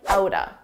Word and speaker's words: out of: We can combine these two sounds together and it will sound like outa, outa.